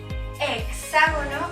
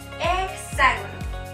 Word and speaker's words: hexágono: puede ser la palabra hexágono. Como podemos observar, la letra X se encuentra entre 2 vocales, la E y la A, por lo que sonará como KS o GS, es decir, hexágono o hexágono.